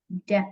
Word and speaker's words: debt: Debt ya. Ini tulisannya debt, tapi cara bacanya B-nya hilang ya, jadi debt.